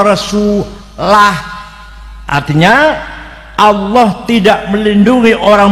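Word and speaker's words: رَسُولُهُ: Annallaha bari'um minal musyrikin wa rasulih. Sesungguhnya Allah tidak melindungi orang musyrik dan tidak melindungi Rasulnya. Salah. Yang benar bacanya annallaha bari'um minal musyrikin wa rasulah, artinya Allah tidak melindungi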